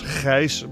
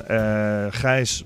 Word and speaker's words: Gijs: I know it's difficult to pronounce Gijs because in Dutch is alles g.